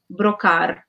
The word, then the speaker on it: Brocard: They pronounce it in the French way as the surname Brocard'S.